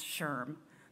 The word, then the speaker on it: SHRM: Taylor, President and CEO of SHRM, pronounced SHRM, the Society for Human Resource Management, based in Alexandria, Virginia.